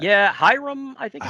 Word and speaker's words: Hiram: Yeah, Hiram, I think is how it's Hiram. pronounced.